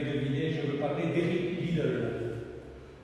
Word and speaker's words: Liddell: je veux parler d'Eric Lidl rien à voir avec le supermarché li lid on peut-êre prononcer lid le nom de cet